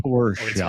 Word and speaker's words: Porsche: It's Porsche. hilarious. It's hilarious to me. Like the phonetic. It's hilarious. Anyway. Porsche. It's pronounced BMW.